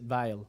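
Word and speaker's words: Weil: vile his name is vile Oh with a w though so you have to pronounce it vile well yeah because derbies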